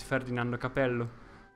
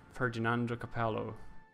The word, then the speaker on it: Ferdinando Capello: For example, this guy's name is Ferdinando Capello. An English or an American would have probably said something like Ferdinando Capello, which is not his name.